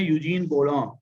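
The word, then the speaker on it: Eugène Bourdon: ये एक साहब हैं यूजीन बोलॉन, ये फ्रेंच प्रोनाउंसिएशन है।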